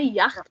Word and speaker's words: Yacht: Kemudian di sini ada yacht, dibacanya yacht. Kalau upsilon di depan baca Y, yacht.